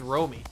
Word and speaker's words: Romy: Romy Gonzalez, or Rami? I don't know how to pronounce his name, but he looks at a strike there for the second one. Oh, it's Romy.